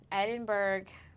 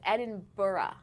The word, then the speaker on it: Edinburgh: It says avoid pronouncing it as Edinburg, but it also says or Edin Burough. So, he was wrong. It's Edinburgh.